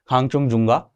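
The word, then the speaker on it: Khangchendzonga: अगला जो है इंपॉर्टेंट, दिस इज बहुत बहुत बहुत ज्यादा इंपॉर्टेंट है, खांगचुंगजुंगा मैं बोलता हूं इसे, कई लोग अलग अलग प्रोनाउंसिएशन करते हैं, मेरी पर्सनल प्रोनाउंसिएशन है खांगचुंगजुंगा वाइल्ड बायोस्फीयर रिजर्व।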